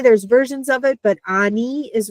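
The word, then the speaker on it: אני: We have the noon sound, the N, followed by the hirik, the little bit longer E. So Ani. Okay, and that's how that works.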